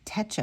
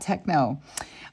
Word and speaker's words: Techo: in the hopamichu Tetro I always say it wrong Techo I want to say techno it's not techno um 2023 the day